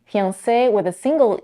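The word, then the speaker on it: fiancé: way also in English the American pronunciation of this word is fiance it has three syllables and the primary stress is on the last syllable like in other French words however many Americans stress on the second syllable fiance let's talk about vowels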